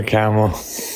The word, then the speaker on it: Kamala: Why are you voting for Kamala? Her name, first of all, her name's pronounced Kamala.